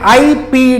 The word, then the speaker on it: Ipoh: Okay, Anil ये इंपोर्ट करते हैं, इनको बोलते हैं आईपी डिस्कस।